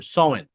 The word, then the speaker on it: Samhain: But why did you choose um Sowain or or Sowain rather and and Celtic lore as the heart of of this story?